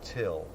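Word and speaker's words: Thgil: your name light fit my name is till it's spelled what g-i-l but it's pronounced till we got neal he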